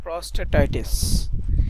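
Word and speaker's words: prostatitis: ঠিক আছে আরেকটা এখানে উচ্চারণটা কি হবে জানিনা প্রস প্রস্টেসটিস এরকম কিছুটিস ওই ওয়ার্ডটা বের করে আচ্ছা এইযে এই ওয়ার্ডটা আমি একটু উচ্চারণটা দেখে শুনে নেই। প্রস্টেটাইটিস। ঠিক আছে?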